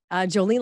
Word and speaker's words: Jolene: And so Jolene, Jolene like the song, Dolly Parton song, and, just like it's spelled.